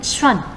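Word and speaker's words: ص: Teman-teman, berikutnya poin kedua, melafalkan huruf shad. Berbeda dengan melafalkan huruf sin. Huruf shad membacanya dengan bibir agak ke depan ya. Bibir kalian agak ke depan seperti hendak bersiul.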